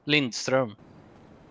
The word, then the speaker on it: Lindström: my last name as it's supposed to be pronounced. How do you say it? Lindström.